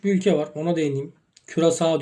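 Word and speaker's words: Curaçao: Küresao diye okunuyor.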